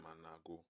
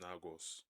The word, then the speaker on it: Anago: of the Benin kingdom, called them Anago. When the Europeans arrived and they heard their name, they removed the A and called them Nagos. That mispronunciation, a lazy shortcut that the slave traders took, became the name that traveled across five continents and defined a group of people for centuries.